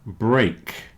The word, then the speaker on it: break: great here's another one break and stake rhyme with cake break and steak rhyme